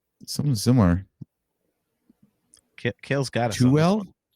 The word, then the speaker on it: Tooele: Toel. What about you, AJ? Something similar. Kale's got it. Tuel? Tooele.